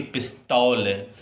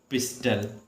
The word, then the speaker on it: pistol: क्या पढ़ोगे बेटा, पिस्टल, ना कि पिस्तौल, क्योंकि ये ओ है, आपको हरदम लगेगा पिस तौल ला बोलते हैं, लेकिन ये है क्या, पिस्टल।